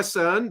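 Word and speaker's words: Cerne: or she goes by CERN but it's actually churn she goes by CERN because filthy anglos can't pronounce her name um but Alana Chan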